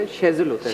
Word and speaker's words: Shazeal: नहीं होता, Shezel होता है।